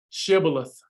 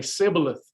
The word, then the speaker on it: shibboleth: they stole the password but they couldn't pronounce it they would say sibileth and that's how the